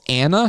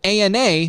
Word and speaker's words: ANA: The part that Ethan calls Anna stands for anti-nuclear antibodies. It's an acronym that Ethan pronounces Anna instead of ANA like most every medical professional does.